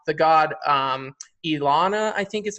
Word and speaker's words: Inanna: Like I think somewhere I remember you talking about transgenderism and how the god Inanna, I think is how you say her name. Inanna.